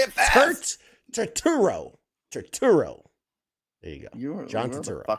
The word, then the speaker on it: Turturro: Turturro. There you go. You're John the Turturro. fucking worst at pronouncing anything.